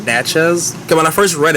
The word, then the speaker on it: Natchez: So now, and Nats, I keep pronouncing it as Nazi. It's called Natchez.